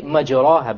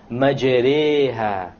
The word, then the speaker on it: مَجْرِيهَا: If you were to not know what an imala is, you would say مَجْرَاهَا, but that's a mistake. You have to pronounce it with an imala. An imala is pronounced as this, مَجْرِيهَا, مَجْرِيهَا.